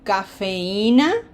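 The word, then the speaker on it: café: Cafe.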